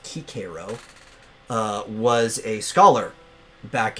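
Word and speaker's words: Cicero: uh they call him sisoro but he was pre-augustine so it would have been pronounced kikiro uh was a scholar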